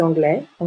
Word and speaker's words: anglaise: masculin et le féminin on ajoute un e au féminin et on prononce la dernière consonne donc il est anglais le s est une lettre muette il est anglais en anglais elle est anglaise